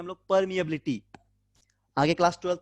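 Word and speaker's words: permeability: और epsilon not को बोलते हैं परमिटिविटी, इस म्यू नॉट को हम लोग बोलते हैं परमिएबिलिटी, ठीक है। स्पेलिंग क्या है इसका, PER, परमिएबिलिटी, ठीक है, MEABILITY, परमिएबिलिटी, इसको बोला था परमिएबिलिटी।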